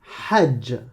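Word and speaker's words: حج: Comme dans hajj. Comme dans hallouf. Ha. Comme dans haram. Haram. Est-ce que tu entends le son râpeux au départ? Normalement, ça doit te faire mal à la gorge, hein, à un moment donné.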